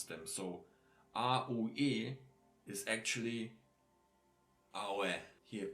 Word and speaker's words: aue: Like if we have here like this following of aue, or ui, or oui. I put it here beneath so you understand how you have to pronounce them. So A-U-E is actually aue.